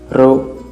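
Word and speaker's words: ρ: A letra Rho tem o som de R entre duas vogais, como em falará. Você percebeu que eu dei uma ênfase em Rá, e é exatamente essa ideia do Rho, ok? Não é como em carro, mas como em, nem como em rato, mas como em falará, ok?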